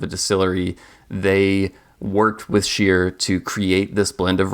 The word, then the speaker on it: Scheer: And I should note, I keep saying Scheer. If you spend enough time in the rum world, you've probably heard multiple pronunciations of this name. Some people say Skier, some people say Scheer.